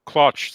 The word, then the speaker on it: Claunch: I'm sorry, the Claunch is how to pronounce the coach's name. Is that correct? Yeah. Claunch.